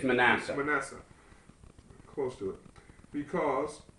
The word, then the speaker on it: Manasseh: So, Jehovah or Joseph called the name of the firstborn mania. Is that pronounced correctly? I think it's Messiah. Uh I I'm going to go with you. Man, it's Manasseh.